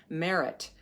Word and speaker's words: Meret: I'd never heard of and the Egyptian goddess Merit and it's spelled either m-e-r-e-t or m-e-r-i-t and I'd never